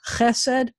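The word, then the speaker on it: חסד: on the last syllable, except when it's an eh-eh word, like this word is chesed. So this word is going to be eh-eh and the accent's going to be on the first syllable.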